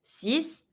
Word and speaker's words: six: the U Cat s the X in six is GNA be pronounced like a s sis set set careful you're not